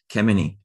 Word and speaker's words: Kemeny: And this is Franklin Kemmeny. I think I'm pronouncing this Kemmeny.